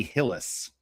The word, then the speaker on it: Hillis: So yeah, that that chick's name is Ally Hillis. So rhymes with Bruce Willis.